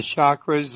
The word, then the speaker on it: chakra: and working on the chakras uh are they linked together yes because your chakras and the the way to pronounce that word is chakra it's a sanskrit word and it uh it